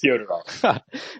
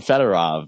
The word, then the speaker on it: Fyodorov: Fyodorov. Okay. I call him Fedorov because that's how it's spelled. I promise it's Fyodorov.